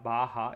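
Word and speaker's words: baja: we call it patellar baha it's spelt b b a.j a but it's pronounced bah k it's a Spanish word and the high riding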